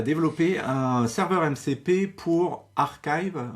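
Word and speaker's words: arXiv: Et il m'a aidé, en tout cas, à développer un serveur MCP pour Archive, ouais, Archive, je pense que ça se prononce, c'est-à-dire ce site web de pré-print, de pré-publication de papier de recherche.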